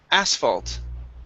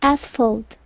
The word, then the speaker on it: asphalt: you go good uh this word here is pronounced asphalt the stress is at the very beginning asphalt asphalt okay very good uh